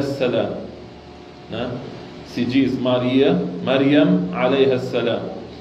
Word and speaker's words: مريم: Então Maria, pronunciando em árabe, se diz que dizemos Maryam, Maryam.